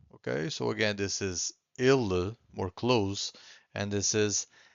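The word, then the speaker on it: ele: say it properly so I'm going to tell you that ill the first one this e it's a bit more close so we say e and then we have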